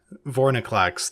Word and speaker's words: Vorinclex: Vorinclex, the correct way to pronounce that name.